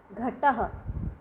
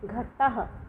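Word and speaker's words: घटः: यहाँ पे ये जो 2 बिंदी लगी हुई है घट के आगे, इनको हम विसर्ग कहते हैं और जब इसको हम पढ़ते हैं तो उसका उच्चारण ह के रूप में होता है।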